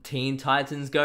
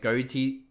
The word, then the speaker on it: Teen Titans Go: uh robin's actually from teen titans go and i was saying like goatee like go teen titans or something like that i was saying it wrong okay i do apologize